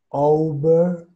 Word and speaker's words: overalls: La O al final tiene que sonar hueca.